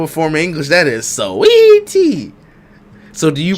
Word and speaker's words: Saweetie: Yeah, you just call it sweetie. So you don't emphasize the A that's there. Only a tiny bit, sweetie.